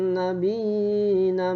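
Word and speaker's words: النبيين: Faba'athallahu nabiyina mubashirina wa mundirin. Nah, nabinya jangan lupa itu dibacanya panjang. Walaupun ya-nya satu ada tanda ya. Ya, di atasnya ada tanda ya, itu panjang ya.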